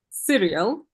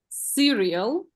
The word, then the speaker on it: cereal: yes and this one and this one is cereal but we eat it at AIA yes TV serious we watch cereal we eat yeah yes okay so cereal we